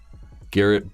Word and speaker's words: Garrett: Man's cool so yeah his name rhymes with carrot Garrett Baldwin carrot or how